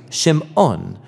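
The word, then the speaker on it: שמעון: and she names him Simon or in Hebrew shim ohn because she says the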